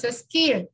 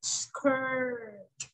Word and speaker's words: skirt: Ojo con la pronunciación, no es skirt, es skirt, skirt.